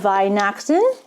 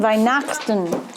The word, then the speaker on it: Weihnachten: Frohe Weihnachten. Weihnachten? Is it Weihnachten? Weihnachten. Say it. Weihnachten.